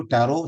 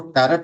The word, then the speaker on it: Tarot: Okay, तो सबसे पहली बात है कि जो टैरो शब्द है, ये TAROT, टैरट, इसको टैरट नहीं बोलते, इसको टैरो बोलते हैं। इसमें टी साइलेंट रहता है, ठीक है।